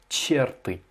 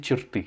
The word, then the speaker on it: черты: Alors, милые черты, alors tu as mal placé l'accentuation sur черты. Toi tu as dit черты, alors que c'est черты, l'accentuation sur la dernière syllabe.